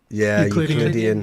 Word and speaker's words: Euclidean: How do you pronounce that? Euclidean? Euclidean.